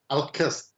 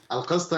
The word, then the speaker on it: ALQST: Al-Qist. Al-Qist in Arabic is fairness, so Al-Qist.